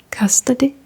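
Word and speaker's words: hvad koster det: Custody.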